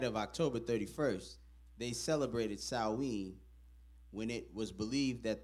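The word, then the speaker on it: Samhain: back to the ancient Celtic Festival of Sam pronounced saen the Celtics who lived in who lived 2,000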